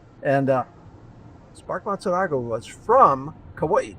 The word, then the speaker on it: Kauai: said, you know, Spark, you can't say Kauai anymore because that's not politically correct. Got to go back to the original pronunciation, which is Kauai.